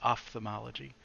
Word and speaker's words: ophthalmology: I always pronounce that P in ophthalmology. It's ophthalmology, but Off, yes. So the yeah, yeah. pH is the All right.